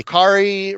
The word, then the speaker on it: Kaare: like Amazing Fantasy by Kari Rhymes with Atari Andrews in Treasury Edition form or regular comic edition form.